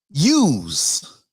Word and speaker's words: YEWS: It's called I'm spelling it out, YEWS, which sounds like use, not like use guys, hey, use guys, no.